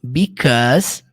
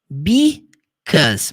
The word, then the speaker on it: because: Então, 'cause, abreviado de because, e se pronuncia desse jeito aqui, ó. Eu coloquei entre parênteses. Because. Muita gente fala because. Esquece, é 2 sílabas só.